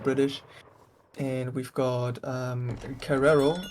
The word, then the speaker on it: Carreiro: and we've got um Carrero is that how you pronounce this kah kah pretends the is an H kah I have a hard time pronouncing that yeah Double R is an H in Brazil right how do you say